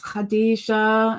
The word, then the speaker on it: Khadijah: K, silent. The K is silent.